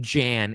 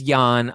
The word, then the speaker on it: Jan: First, you said you knew how to pronounce someone's name and decided you'd call him Jan instead. His name is Yan. I know, but I'm like, but it looks like Jan, so I called him Jan.